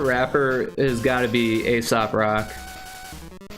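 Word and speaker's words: Aesop Rock: But my favorite rapper has got to be Asop Rock. Not ASAP Rocky, but ASOP Rock. They're two different people.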